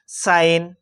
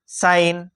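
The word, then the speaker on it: sign: ফালে ভাওয়েল থাকে এই এস লেটারটুক আমি জরনি উচ্চারণ করিব লাগে মনে থাকিব কিন্তু অধিকাংশ সময় তার পিছ সাব সাইন সাইন এস আই জি এন কি হল সাইন মনত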